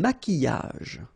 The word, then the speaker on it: maquillage: Un maquillage. Okay, so here, same rule. Q-U, but then U is not pronounced, so qui, and then y. Maquillage.